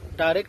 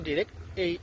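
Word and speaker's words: direct: অর্থাৎ ডাইরেক্টও সঠিক উচ্চারণ, ডিরেক্টও সঠিক উচ্চারণ।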